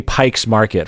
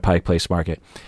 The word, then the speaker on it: Pike Place Market: people pronoun you know when people say pikes market for example instead of pike place market that is grading on